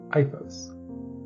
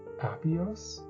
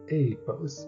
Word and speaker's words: Aifos: take a brief look at our lovely protagonist iOS starting with the name which is spelled a i f oos before hearing it out loud most people I've seen will originally pronounce the name apos but the proper pronunciation is IOS but I'll